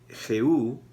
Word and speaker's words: Jehú: La principal es que unge a Jehú, Jehu, con acento en la U, como rey de Israel.